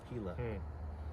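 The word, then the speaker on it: Gila: it Soro like the heila river spelled GI I L A the G makes the H sound heila okay then I'll never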